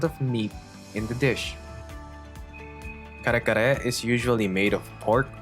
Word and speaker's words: Kare-kare: Okay, that pronunciation, that rolling of the tongue it's an RD sound. It's almost like kali kali.